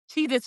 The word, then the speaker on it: Cheez-It: Well, I think also because it's spelled with the Z, Cheez-Its, the it the Z is the S sound. So Right. that's why we're remembering Cheez Its, but there was never an S.